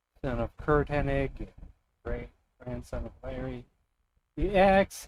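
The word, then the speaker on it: Hennig: always find it weird that it's Henig because I swear every time I watch wrestling they would always say it as Hanning with with like like pronouncing it with like an NG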